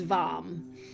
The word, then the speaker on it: Vam: So, it looks like vam. Um, but it's varm uh when you pronounce it.